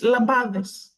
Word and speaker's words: Lampades: learning lampis lampis yes lampades I would say lampades which is terrible saying it the worst I was just over here like the lampad are here to get panie ready the L so bad lamp L lamp and in Greek it's lambades oh lambard Yes actually